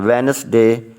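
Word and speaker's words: Wednesday: I have got sports clubs to आइए Amazon वेनसडे वेनसडे मिडीड व्यक्ति डे इसे वेडनेसडे do silent on वेनसडे afternoon and ए हूं मेरा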